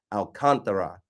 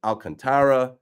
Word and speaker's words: Alcantara: I thought when I was on MLB Network, Sandy's last name is pronounced Alcantara, with an emphasis on the contra, like that part. But then I hear Alcantara, Alcantara.